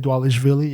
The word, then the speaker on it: Dvalishvili: Sugar Sean O'Malley versus Merab Dvalishvili, right? That's how you say it, Dvalishvili, yeah.